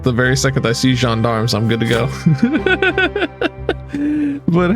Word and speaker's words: gendarmes: The gendarmes!